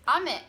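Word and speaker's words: 雨: one is which, but there is a difference in how you pronounce the word with intonation. So one is like ame and one is ame. Oh yeah. So I think rain is ame. The going down, going up.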